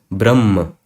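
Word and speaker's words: ब्रह्म: And that's why you pronounce it as Brahm. You have a H before ma, Brahm. So this is how it is written.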